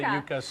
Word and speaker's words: yuca: in yucca valley and the yucca plant and you go to yuca all right so yuca